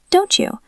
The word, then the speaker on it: don't you: When T and Y touch, they turn into a ch sound, like cheese. Don't you? Don't you want to go? Don't you like pizza? Don't you? It sounds like the word chew, like chewing gum.